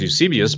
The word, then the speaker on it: Eusebius: could he know that and this is considered use abysus and some people pronounce Eusebius but use abyss is one of the most